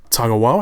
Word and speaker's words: Tagawa: And of course Shang's son was played by Kari Hiroyuki Tagawa. I think it's how you pronounce his last name.